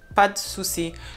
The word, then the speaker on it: pas de souci: People would not say pas de souci, but they would rather say pas de souci, pas de souci. So you almost don't hear the E in de, pas de souci.